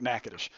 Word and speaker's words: Natchitoches: it's spelled Natchitoches how do you think you spell that na TCH i toc h es no i doesn't look anything like Natchitoches but anyway it looks like nacho cheese all